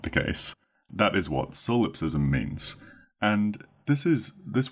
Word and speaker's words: solipsism: be known to exist solipsism is spelled s o l i p solip s i m sism solip ISM so yes this is the